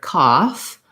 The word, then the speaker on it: cough: vowel or just silent the gh in this word has an unusual pronunciation for the the f sound so we usually spell that with f sometimes we also spell that with ph like in phone and in this word cough or in the word tough for example we spell it with the f sound so we have the ah vowel still and in this case cough we do say that f sound interestingly tough that made